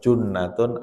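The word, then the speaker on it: جُنَّة: Kalau baca harus benar. Jim, nun ta. Kalau jannatun artinya surga. Kalau junnatun artinya perisai. Kalau jinnatun artinya jin.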